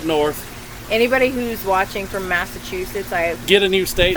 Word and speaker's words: Massachusetts: Well, see, she said a T. I say no. She said CH. Massachusetts.